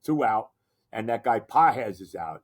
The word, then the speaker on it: Pages: out, and that guy Pahes is out. It's really, you know, really it's spelled pages, but it's Pahes or however he says it, right?